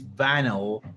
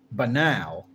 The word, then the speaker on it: banal: The idea that evil is banel does not strip evil acts of their horror. Banel, how do you pronounce that word? Banal. Banal.